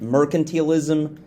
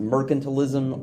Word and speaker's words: mercantilism: It's kind of like merchants, but without the H.